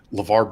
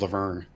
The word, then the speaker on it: LeVar: The guy called LeVar Burton was Laverne.